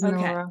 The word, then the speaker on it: Nóra: and it looks like Nora is do you pronounce it Nora I see the little yes it is Nora okay all right cool um I got a